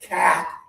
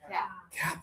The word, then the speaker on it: cap: Yeah, the sound is kind of similar to this one, but this one is in the middle back. Ah ah ah, this one is in the sides of the back. Cap.